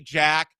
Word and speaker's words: Jac: Can we stop with the J-A-C, Jack? Put a K at the end of it.